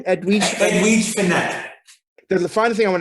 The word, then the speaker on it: Edwige Fenech: How do you pronounce her name? Edwige Fenech.